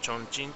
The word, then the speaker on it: 重慶: の重慶ですね日本語で重慶って言ってますけどあのチョンチンという発音になりますちょっとあのあれです